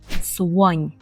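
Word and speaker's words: słoń: - це Слон і будьте обережні при вимові бо там є така цікавий польський звук у Так ми кажемо Слонь Слонь Слонь наступне слово - це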